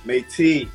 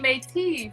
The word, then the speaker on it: Mayti: media influencer um metis did i pronounce him last name right you're putting a little emphasis on the end but it's totally okay it's just matey but make tea i think i should